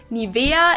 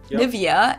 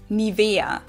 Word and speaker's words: Nivea: English native speakers usually say Nivea, Nivea. In German, we say Nivea, Nivea. So the emphasis is on the E.